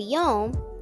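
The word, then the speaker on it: יום: In the word yom, the w makes a long o sound.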